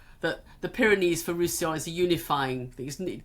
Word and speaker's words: Roussillon: Roussillon. I've got to remember how to pronounce that because it has two L's in